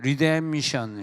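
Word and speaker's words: redemption: 이 가르는 뭐냐면 구속인데 리뎀션 시작. 리뎀션. 피가 뮤트예요, 묵음이에요.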